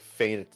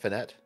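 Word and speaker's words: feint: well I think uh I think how this is pronounced as uh faint because it's a it's a fake attack you fake you feign one way and then you do something else uh Sparrow or Lottie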